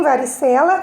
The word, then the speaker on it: varicela: Então, em varicela, a sílaba mais forte é a penúltima.